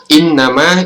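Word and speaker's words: إنما: Ya, cara membacanya adalah pada saat teman-teman membaca innama, ini in ditahan sepanjang dua harokat atau 1,5 alif atau 2 harokat sampai 3 harokat, atau sama saja kalau kita sebut 2 atau 3 ketukan, teman-teman.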